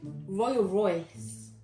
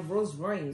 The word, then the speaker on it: Rolls Royce: Royal Royce. It was... Royal Royce? What? You mean a Rolls Royce? Yeah. You don't even know how to pronounce a car.